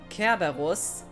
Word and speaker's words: Kerberus: the Kerber Russian, because the way you pronounce Cerberus, or in this case Kerberus, sounds like the word for Rush.